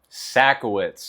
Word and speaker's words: Sajkowicz: Sacowitz, if you dare to pronounce it.